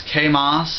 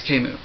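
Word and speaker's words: Camus: reminds me of it's a lot of people pronounce Kos if they've only read about K and haven't heard people say his name but it's kuu not not Kos same with decart it's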